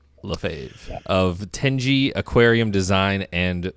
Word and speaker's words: Lefevre: your last name uh I answer to anything but uh lefave is how I'm told it's supposed to be said lefave of teni aquarium design